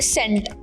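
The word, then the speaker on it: scent: अच्छा मुझे ये बताओ इंग्लिश में वो कौन सा लफज़ है जिसे लिखे तो उसमें एस आता है। लेकिन उसे जब रीड आउट करें तो एस साइलेंट होता है।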